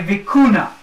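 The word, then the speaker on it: vicuña: their coat of arms, is something called a vicuna. Vicuna. V-I-C-U-N-A. Let me spell that for you.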